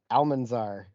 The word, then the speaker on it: Almanzar: um oh i don't know if i can pronounce this bill callus alma almanzar cardi b's name that's how it's pronounced that's